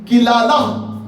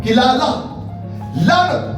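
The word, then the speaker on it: קללה: है और इसके लिए इब्रानी लफ्ज इस्तेमाल किया गया है कि लाला कि लाला जिसके स्पेलिंग्स है क्यू इ एल ए एल ए एज किलाला जब इसको मैंने इंग्लिश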